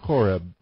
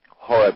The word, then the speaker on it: Horeb: but um the the the original word um horb was spelled with a c it was c h o r e b and the C was silent uh so in English translation